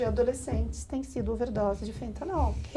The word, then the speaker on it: fentanil: É fentanil ou fentanol? Porque o fentanil é um anestésico, né? É fentanil. A pronúncia, né? É quase ó.